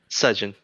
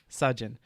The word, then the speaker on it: Sejin: Is that how I should pronounce it? Sejin. Sejin.